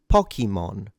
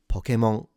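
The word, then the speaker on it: ポケモン: So the pitch accent is a low to high. And notice that the n at the end is fully nasalized. So it's not Pokemon. It's not Pokemon. It's Pokemon.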